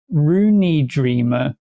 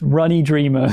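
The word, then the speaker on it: Ruin Dreamer: Also, Tom, it's pronounced like Rooney Dreamer. I mean, the pronunciation guide you've put here still looks like it's pronounced Runny Dreamer. So I'm going to go with Rooney Dreamer.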